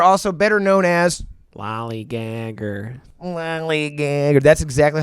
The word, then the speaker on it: Lollygagger: Lollygagger. That's exactly how you pronounce it.